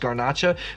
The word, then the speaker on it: garnacha: gach is the same we know it mostly As ganach although it probably should be pronounced garnacha because the home of garnacha is Spain the kingdom